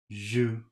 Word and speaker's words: joue: And L-O-U-P, which should be pronounced lu. Let's see if I'm right. Vous. Vous, Doux. do, Joue. jus, Loup.